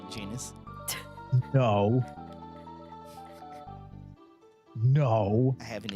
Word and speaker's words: Janus: I'm sorry, it's Janus? Like anus? No. It's pronounced Janus.